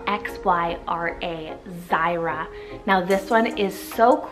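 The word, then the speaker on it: Xyra: and it's the name Zyra, spelled X-Y-R-A, Zyra. Now this one is so cool. I feel it's very easily pronounced, even with an X.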